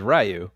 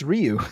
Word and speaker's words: Ryu: which is hilarious because I always thought it was rayu yeah well well that's that's what uh Damen Chapa who plays Ken uh was struggling with is he was not able to pronounce Ryu and I'm like how can you not pronounce Ryu I know you know